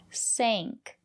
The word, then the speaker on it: sank: But if the letter A is before ng or nk, we pronounce it as the long A, like in plane.